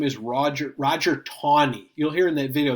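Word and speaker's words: Taney: the left that guy's name is Roger Roger tawny you'll hear in the video they call it a knee it's spelled like Tandy but it's actually pronounced tawny he was the chief justice in the Supreme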